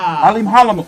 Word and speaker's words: Alimkhanuly: Yeah, so basically that K in there is silent as fuck. That K silent.